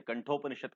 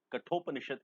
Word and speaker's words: कठोपनिषद: गया वाक्य कठोपनिषद है उसको कैसे कंट्रोल उपनिषद कहते हैं गलत है कठोपनिषद इस का सही उच्चारण है थे कटर हुआ थक